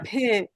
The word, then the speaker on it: W: ভে, হ্যাঁ এটা ভে। আমরা ভ বললে যে ভে। উচ্চারণটা, হ্যাঁ এখানে যে পাশে লেখা আছে দেখেন, ভে।